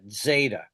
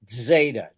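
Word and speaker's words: ζήτα: You'll pronounce it like a DZ almost or D S.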